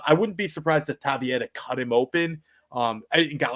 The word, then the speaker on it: Taveira: And AI says it's pronounced Taveira. So that's what we're going to go with. Oh, now. Like Pereira? I guess so.